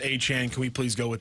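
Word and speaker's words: Achane: for you yeah he was listed as Devon h a chain in the Dolphins media guys he has this big game after game he goes actually it's pronounced a Chan can we please go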